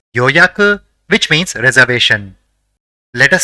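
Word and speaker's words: 予約: see the first word the first character in the word is Yo the second is ya and the third is Ku so it will be pronounced as yoyaku which means reservation let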